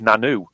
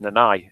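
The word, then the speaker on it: Nannau: Pronounced or spelt, it looks like Nanu, but or Nanau, but it's pronounced Nanai, and it's the Nanai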